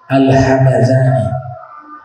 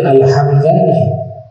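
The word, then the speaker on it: الهمذاني: karangan dari Syekh Hariri alhamadani kalau saya sebut alhamadani cara bacanya enggak boleh alhamzani yang sahih bacanya alhamaz nisbat kepada nama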